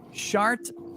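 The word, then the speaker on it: Chartres: when you go look shart is spelled c-h-r-t-r-e-s it's a cathedral in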